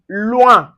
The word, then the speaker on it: loin: So you can see anywhere you see the o u plus the i or you can see o u plus a vowel. So it gives us the oui.